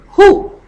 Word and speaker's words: who: Who? The V is silent.